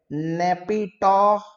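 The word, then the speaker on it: Naypyidaw: China की capital है Beijing, और म्यांमार की कैपिटल है नेपिटो। नेपिटो। स्पेलिंग ध्यान से देखो और उच्चारण उससे भी ज्यादा ध्यान से सुनो। NYAPYITAW, नेपिटो, कुछ दूसरा मत बोल देना।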